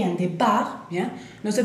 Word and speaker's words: départ: Le départ, départ es la partida, por ejemplo, en un aeropuerto, le départ o départ, y la hora o el vuelo, bien. Le départ, ahí, importante, T final no la pronunciamos, bueno, tenemos E accent